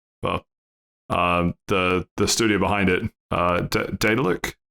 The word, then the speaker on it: Daedalic: Well, the studio behind it, Daedalic? Daedalic. Hey, Dalek. I really don't think that's how you say it.